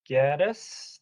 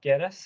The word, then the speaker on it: Genes: more comment okay mr i think rob gettis dr rob genes i believe is how i pronounce it your last name go